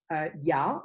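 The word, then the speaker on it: 亚: In modern Chinese, we pronounce this term ya. This is ya, the Yazhou, so for Asia.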